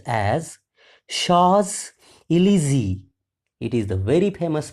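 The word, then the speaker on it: Champs-Élysées: e l y s w s it is pronounced as Sha elzy it is the very famous place in the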